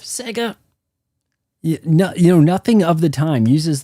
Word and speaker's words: Sega: At the very beginning, he's talking about Sega and uses the Wong, you know, the new Sega, instead of Sega.